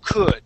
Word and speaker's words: could: All right, the word is could. All right, you don't want to focus on that L or the O or the U. Okay, you're not going to be using any of those sounds.